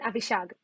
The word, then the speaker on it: Avishag: our process after monitoring them my name is abhishag but all my friends call me because it's easier to pronounce and it's shorter to write i started my tech career on 2013.